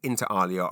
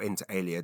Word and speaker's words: Inter Alia: I was at the central theater company's theater for the national theater lives broadcast of interalia or interal alia depending on which pronunciation you prefer.